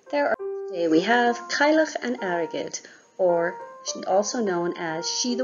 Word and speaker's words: Cailleach an Airgid: it in Irish just a quick note on pronunciation before we get started there are today we have kyloch and arrogate or also known as shida wamawi enjoy fall